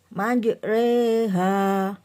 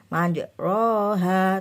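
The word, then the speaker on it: مجريها: ro manj ro ha tapi karena itu bacaan imalah ya imalah adalah memiringkan bunyi fathah pada kasrh ya jadi membacanya manj reha manj re manj re ha bukan manj R ha tapi manj re manj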